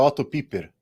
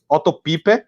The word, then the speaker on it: Otto Piper: Como é alemão, seria Otto Piper. Otto Piper, né? E aí ele vai citar 4 limitações da teologia bíblica que são apontadas pelo Otto Piper.